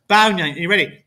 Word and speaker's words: Bao Ngan: Bao Ngan, that's how you say it.